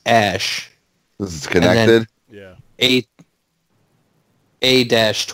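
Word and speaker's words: Æ: a space AE the a he's pronounced ash was connected eight a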